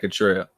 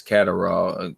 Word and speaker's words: Catterall: I like Jack Cottrell. Well, that ain't how you say it. I think it's Catterall. I say Cottrell.